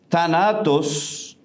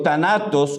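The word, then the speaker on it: θάνατος: La palabra muerte, thanatos, en el texto griego, thanatos o thanatos, porque la TH se pronuncia como una D a veces.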